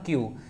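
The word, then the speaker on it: queue: देखिए, इसका मतलब होता है स्टैंड इन अ क्यू। इसको सिर्फ और सिर्फ क्यू ही प्रोनाउंस किया जाता है, क्या, ओनली क्यू।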